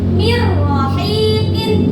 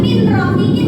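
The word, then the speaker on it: مِنْ رَاحِقِينَ: Mirrohikin. Bukan min rohikin ya. Mirrohikin.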